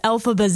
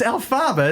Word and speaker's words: Elphaba: That's the sound effect I need for how you pronounce Elphaba's name. What? It's Alphaba, isn't it? No, it's Elphaba.